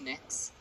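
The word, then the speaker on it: Mx.: It's pronounced Mix. Mix?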